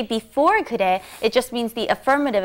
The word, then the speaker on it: 그래: It's 그래. 그래. It's almost a D sound, isn't it?